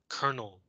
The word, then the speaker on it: colonel: By the way, this word, colonel, C-O-L-O-N-E-L, colonel, in Chinese, I think is like 中校 or 少校 or something like that. It comes from the French. That's why it's pronounced in a very weird way.